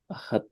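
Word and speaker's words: אחד: Mahfud, ini Ahad, Ken, ini baru ahad, bukan ehad. Ini baru ahad.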